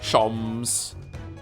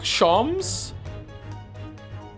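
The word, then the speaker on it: Sholmes: Shoms is pronounced the same as jams. Shoms. Herlock. Shoms.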